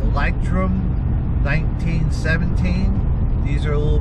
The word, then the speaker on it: Leuchtturm: there is a german company it is called lightroom 1917. these are a little bit pricier and i think it's spelled probably a little wrong here but it's